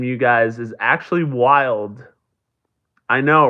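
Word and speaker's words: Wilde: you guys is actually wild I know right this sounds crazy um wild is w i lde e it's a silent e but it's a Danny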